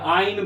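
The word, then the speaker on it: -yne: लोग प्रोनाउंसिएट करते हैं, बट YNE होता है, ठीक है। या आइन बोलते हो, ठीक है, इन ना बोल के आइन बोलते हो, आइन, एन इन आइन, ठीक है।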